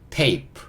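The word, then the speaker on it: tape: t a a p 피 프 소리 이는요 묵음 그러니까 것도의 소리 달아줄 거고요 테이 테이프 이렇게 읽을 수 있겠죠 좀 크게 적어보면 TA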